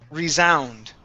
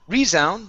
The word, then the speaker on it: resound: And your last word is resound. Instead of resound, the stress is at the end of the word.